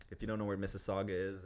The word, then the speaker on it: Mississauga: Like guys, like it's Mississauga. You're getting paid 6 figures each. Like you should know that. But that's where we are. We're based in Mississauga.